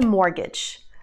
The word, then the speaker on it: mortgage: back it's called a mortgage please make sure not to pronounce the T Mortgage example sentence they took